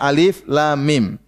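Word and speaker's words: الم: Jangan baca alam tapi bacanya alif lam mim.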